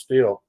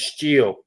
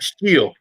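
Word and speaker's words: Stihl: yeah funny thing is we call it still but it's not pronounced still it's steel yeah yep steel that's how they pronounce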